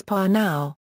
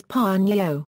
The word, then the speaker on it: Pnau: Another theory on the pronunciation, according to one interview with the pair, is Pnau. The group has on other occasions explained that the name rhymes with meow.